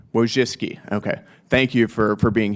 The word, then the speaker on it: Wojcicki: Miss Wojcinski, is that how you pronounce it? Yes, Wojcicki. Wojcicki, okay.